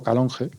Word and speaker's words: Calonge: estuve en en calonge escrito calonge y pronuncio también en castellano calonge que está a unos